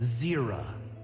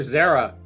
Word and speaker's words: Zera: From now on, I shall be known as Zera. It will be as you say, Zera. They didn't get the voice actors to agree on how to pronounce it. One is saying zer, the other zerah.